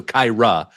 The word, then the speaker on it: Kyra: Kind of like Kyra. Cairo, but spelled with an A at the end. So Kyra.